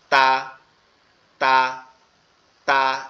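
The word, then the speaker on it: ت: তা, তা, তা, এরকম ভাবে লাগবে, ঠিক আছে? তাহলে তাটা কোথা থেকে উচ্চারণ হবে? তাটা হচ্ছে জিহ্বার আগা, উপরের দুই দাঁতের গোড়ার সঙ্গে লাগবে, উপরের দুই দাঁতের গোড়ার সঙ্গে।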